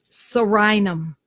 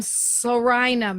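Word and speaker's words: Psorinum: and the remedy is Suriname spelled PS the s R excuse me the P is silent like pneumonia you know the P is silent PS o R I n um Suriname not parcel random Suriname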